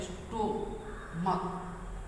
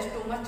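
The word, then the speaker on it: stomach: लेकिन आपको याद रखना, यदि च न होकर के उसका उच्चारण क्या हो, क, जैसे हम पढ़ते हैं स्टोमक, इसको हम स्टोमच नहीं पढ़ते, इसको क्या पढ़ते हैं, क।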